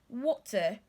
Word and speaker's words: water: Glottal stop. It's like you're stopping the T there in your pronunciation. You're not allowing the T come out. So you're saying water, water, water, water. That's what we call the glottal stop.